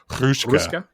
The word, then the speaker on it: Hruška: You have to roll the R, so it's Hruška.